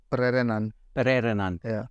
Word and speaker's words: Pererenan: We had the little competition, the team competition that you put on over in, how do you pronounce it? Pererenan. Pererenan.